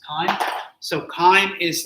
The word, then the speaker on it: chyme: I know it's like CHY, but it's like pronounced chyme.